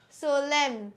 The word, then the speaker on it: solemn: no I'm not right the correct pronunciation is Solem Solem your n is silent means it is not pronounced in us it is